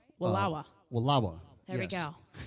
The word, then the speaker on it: Walla Walla: there well eric did i say it right walawa there we go walla walla voila there you go we'll have fun and